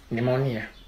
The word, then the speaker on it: pneumonia: Pneumonia. Ni and monia symbol. Instead, you guys spell it pneumonia. What the fuck is that shit? I mean, dog, like this, the P is silent.